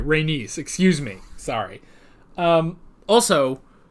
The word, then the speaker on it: Rhaenys: was a woman renis okay not reynos reynese i gotta try to remember that because reignus did not sound right all right rhaenys excuse me sorry um